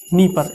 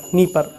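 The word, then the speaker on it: Dnieper: इसका नाम है नीपर नदी, नीपर, DNIPER, नीपर, D silent है, नीपर नदी उसको कहा जाता है।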